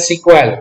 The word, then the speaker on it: SQL: एंड पहले ही हमने बोला कि एसक्यूएल को प्रोनाउंस किया जा सकता है सीक्वल.